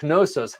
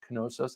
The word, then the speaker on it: Knossos: Scott says, LOL, I got engaged in Crete at Knossos. How cool. How cool. We went there on our honeymoon to Knossos. I think you pronounced the K.